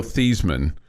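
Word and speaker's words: Theismann: I always like Joe thyman I liked him I liked him as a commentator right right his name was Joe theeman at Notre Dame and he changed his name to rhyme with Heisman because he thought he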